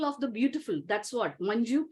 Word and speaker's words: Manju: It is Manju. It is not Manhu. It is not Manu, because that's my brother's name. It's Manju. J, you have to pronounce. It's not like Spanish where J is silent.